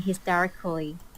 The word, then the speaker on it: hysterically: Notice how she pronounces everything syllable by syllable. Let's play that again. Screaming hysterically. But when people talk, they will just say hysterically. They're not going to say hysterically. This syllable here is usually not sounded out if you have proper connected speech.